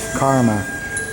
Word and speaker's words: karma: here and in and in ply language they call it Kama written k a m m a instead of karma k a r m a in anyway they can most people don't pronounce the R so Buddha is never